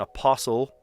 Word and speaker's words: apostle: Silent T, sure, I got that in apostle. And I don't pronounce the T in apostle.